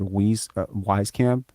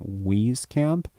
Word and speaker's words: Wieskamp: Why does he call himself Wheezy if his last name is Wisey? And then I was just like, I don't know, my brain just clued in on. I was like, oh shit, I've been saying it wrong the whole time, right?